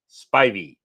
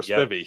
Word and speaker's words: Spivey: Brooke, remember to pronounce my name correctly. Spivey. Spivey or Spivby? Spivey. Is it Spivey?